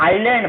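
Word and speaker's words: island: ये जो लिखा है देखिए, आइलैंड, इसको एस का साइलेंट हो जाता है, आइलैंड बोलते हैं, आइलैंड, और बहुवचन में है तो आइलैंड्स हो गया।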